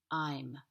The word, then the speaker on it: I'm: for example i am i'm when you contract i am it's really important that you pronounce the um sound in i'm because it stands for